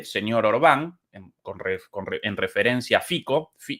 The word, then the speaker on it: Fico: orbán con En referencia fico o fizzo lo llaman los los eslovacos pronunciado Aparentemente así en en eslovaco ese nombre Eh bueno